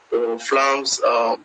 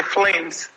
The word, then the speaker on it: Flammes: She plays in France, Flammes Carolo. Am I right? Wow, it's interesting that you pronounce Flammes. Some people say flames. You know, it's good that you pronounce Flammes very well.